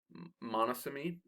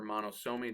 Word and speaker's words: monosomy: Okay, a couple of examples here would be monosomy or monosomy, depending on how you want to pronounce it.